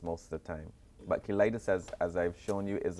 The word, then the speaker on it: cheilitis: Ford, for sharing with us on this lip eczema It looks like cheilitis, but clearly it's cheilitis. It's spelled C-H-E-L-I-T-I-S, just in case you want to look it up some more.